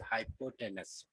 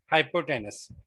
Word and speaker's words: hypotenuse: वैसे the correct pronunciation is I guess हाइपोटेनस, ठीक है।